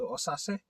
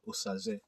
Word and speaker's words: Osaze: Those who can pronounce Osaze very well. I've heard people they say Osase, Osaze. My name is Dr. Osaze.